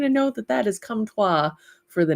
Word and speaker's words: Comtois: So he is the little drafty guy that I released, the Comtois is how you pronounce it, which is kind of funny.